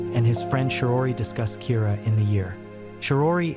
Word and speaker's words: Kira: this and calls him Kira which is the Japanese pronunciation of the word killer some people are in